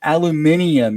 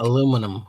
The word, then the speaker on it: aluminium: It's aluminium, you uncultured freak. Aluminum. Aluminium. That's not how you spell it.